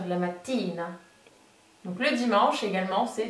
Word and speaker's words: mattina: Le matin en italien, c'est féminin, donc ça se dit la mattina. La mattina. Alors très attention, ne faites pas la mattina, parce que du coup ça fait penser à la prononciation du mot voiture, qui est la macchina. Là on est bien sur la mattina.